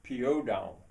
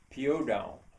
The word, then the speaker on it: Piódão: to a little town village in Portugal called Piódão. Piódão. I'll I'll spell it.